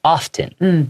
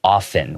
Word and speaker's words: often: Okay, it has a T sound, so you can say often. 有时候会听到人家这样念。 Yeah, but I usually pronounce it often without the T sound.